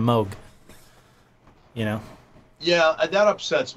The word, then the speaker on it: Moog: It's like when people say Moog instead of Moog.